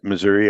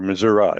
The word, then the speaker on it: Missouri: Uh and Missou- Missouri or Missoura, it depends on what part of the state you live in how you say it.